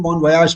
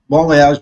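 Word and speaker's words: bon voyage: इसमें बोलेगा बॉन वॉयज बोलते हैं, बॉन वयाज पढ़ते हैं, दोनों तरीके से बोल सकते हैं, बॉन वॉयज भी बोल सकते हैं और बॉन वयाज भी बोल सकते हैं। बॉन वयाज एक्चुअल फ्रेंच प्रोनाउंसिएशन है।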